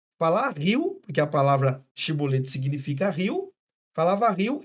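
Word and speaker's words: shibboleth: E eles, pela variação da língua, o dialeto, eles não conseguiam pronunciar shi, as consoantes C e H. Então eles pronunciavam o S, si bolete.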